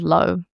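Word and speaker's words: L'Eau: So years ago, maybe five, six, seven years ago, I knew I wanted to call the brand low.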